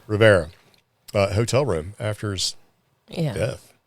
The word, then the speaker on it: Rivera: So evidently the haunted relic was absent from Dan Riviera's, is it Riviera or Rivers? Am I saying it wrong? Rivera.